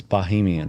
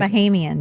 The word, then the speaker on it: Bahamian: I said it wrong. It's Bahamian, right? Bahamian, yes. Bahamian.